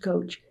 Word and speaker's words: Koch: Coach, and it's spelled Koch. Now that spelling is called Coke. And it's interesting to me, but his name was pronounced Coach.